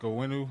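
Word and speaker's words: Onwenu: He he he got a good coach, you know, he got a good player and uh Mike Mike Wenu is how you say his name.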